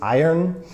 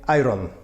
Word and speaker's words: iron: and it's iron alright the way that I personally say it is iron it is two syllables but when you say it quickly it sounds like one kind of messed up syllable iron but Polish people very often say Iram I have to iron